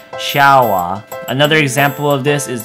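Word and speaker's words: シャワー: So shower will be changed to the Japanese pronunciation shawa.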